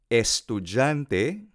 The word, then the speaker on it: estudyante: sign amable mas estudyante estudante palabra Espanola estudiante per pron estudante estudante estudante en Filipino se pronuncia así no sic estudiante amable